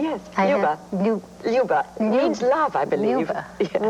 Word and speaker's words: Luba: When you are playing a role like Luba, am I pronouncing it right? Yes, Luba.